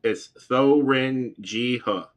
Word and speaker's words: Thuringia: They don't pronounce THs as th. They pronounce it ta. So it's THUR. So it's like through Ringa. Is how I would say it.